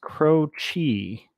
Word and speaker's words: Croce: Okay, it's pronounced Croce.